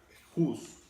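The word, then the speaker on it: חוס: Bien, hay otra palabra que se pronuncia juz, que significa, entre otras cosas, cubrir o figuradamente compadecer o compadecerse de la persona afectada.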